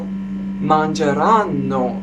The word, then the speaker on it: mangeranno: Now you may say, well, mangeranno. The stress is on N, right? Correct. The stress is on N, but the accent is on A.